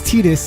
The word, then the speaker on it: Titus: But they do pronounce it as Tetus in Kingdom Hearts.